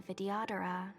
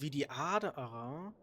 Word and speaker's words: Vidyadhara: Die heißen Vidyadhara. Vidyadhara. Das heißt, das H wird nicht gesprochen und das soll ein I sein.